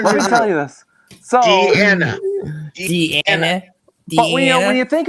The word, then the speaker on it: Deanna: Diana Troy. That's it. He said it wrong again. Thank you. No, I said it correct. You American infidels said it wrong. No. Let me tell you this. So, Deanna.